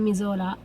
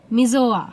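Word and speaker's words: Missoula: একটা শহরে দাঁড়িয়েছে এখন যেটার নাম মিজোলা। মিজোয়া সরি। মানে এর স্পেলিংটাই একটা এল আছে কিন্তু উচ্চারণে সেটা উজ্জ মিজোয়া।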